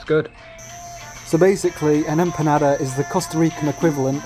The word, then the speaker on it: empanada: costa rican food that should be pronounced empanada by the way